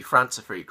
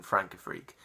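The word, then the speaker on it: Françafrique: detests the fact that it's in correctly pronounced in the song when it should be France a freak rather than Frank a freak but but I was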